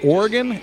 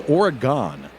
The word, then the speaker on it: Oregon: We have a city that is spelled exactly the same way as this state, but rather than being Oregon, it's Oregon because that's how we say stuff in Wisconsin.